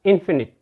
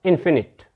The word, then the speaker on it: infinite: if you take in before it it becomes infinite try to understand the pronunciation the difference in their pronunciations this is your finite when you take prefix in before it it becomes infinite infinite means Unlimited the next word is valuable